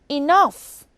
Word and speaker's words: enough: Now consider the word enough. GH is at the end of the word and it makes the F sound.